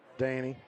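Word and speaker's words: Dani: How you pronounce that? Danny.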